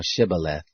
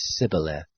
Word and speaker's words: Shibboleth: If he said no, then they said to him, "Say now Shibboleth." And he said Sibboleth, for he couldn't manage to pronounce it right.